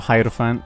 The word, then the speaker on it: Hierophant: Pop the Hierophant, I guess. Or Hierophant, I apologise. I believe that's actually how it's said.